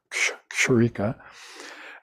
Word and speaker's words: Kshurika: Yeah, get used to saying K and S in the same breath if you can, Kshurika, and then you can pronounce that.